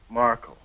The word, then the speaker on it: Markle: Markle. How do you spell that, sir?